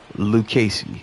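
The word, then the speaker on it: Lucchesi: simply said to me I'm pretty sure it's pronounced Liu Casey and he he he even broke it down in pronunciation shout out to you bro cuz I have been bombing Joey lucasey's name for so long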